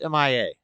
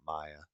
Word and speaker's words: M.I.A: right experiences uh M.I.A it's M.I.A I'm still gonna call her M.I.A not Maya tweet a message said